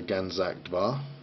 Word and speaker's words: Ganzak Dvar: Flame Master Ganzak Dvar, or just Var, probably. I don't think you pronounce that D, but Flame Master Ganzak Dvar.